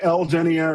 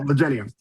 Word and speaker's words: Legenia: Other people, they pronounce, like, they'll say Lgenia or something like that. It doesn't work for us. But anyway, Legenia.